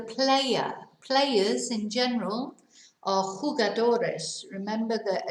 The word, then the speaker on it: jugadores: players in general are jugadores remember that a j is like a h pronounced like h so quiet it's not